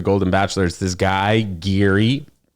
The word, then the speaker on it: Gerry: Bachelor is this guy, Gary. I think that's how you say his name. Maybe not like that, not Geary, but it's spelled Gerry, which is Gary, but Gary, you know, which is I don't know.